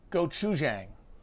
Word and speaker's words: gochujang: and if i could dip those mo go go chujang gochujang that's it a gochujang pepper paste because